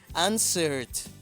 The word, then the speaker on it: answered: Y ahora el verbo answer, que es responder, no termina en ninguna de las letras que te dije, por lo tanto se pronunciará como de answered, answered, answered, answered, ¿ok?